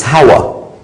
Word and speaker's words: Hawa: The difference is the way you say the name of Eve, it's Hawa.